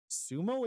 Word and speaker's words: Sumo: zed or a z Sumo is an S dude I always pronounced Zumo and we even win the one at an s you're messing with no I'm not dead serious I came from the concentrate thing sumo Sumo with an S Sumo yeah what was